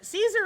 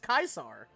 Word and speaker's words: Caesar: I if like Caesar Caesar is not how you pronounce that name it's pronounced kaisar yeah actual pronounced it